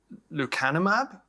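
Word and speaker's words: lecanemab: want to bring us up to date on lucanumab am I pronouncing it right yep the kind of map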